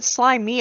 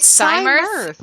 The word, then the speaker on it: Cymirth: I thought you said Slymia, and I'm like, what? That's how Smorg pronounced it, and I've never gotten over it, but Yeah. it's the canonical fucking pronunciation in our sessions. Slimy. It's Cym. It's Cymirth. It's Cymirth, yeah. But Smorg said Slymia, and we've just gone with it.